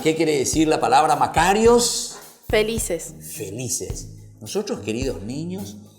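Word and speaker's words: μακάριοι: Bueno, vamos a aprender entonces en griego y se dice Macarios.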